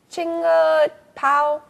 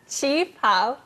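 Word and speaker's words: qipao: How do you say that word again? Chinga pao? Chi pao.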